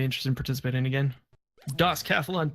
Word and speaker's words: DOScathlon: DOScathlon.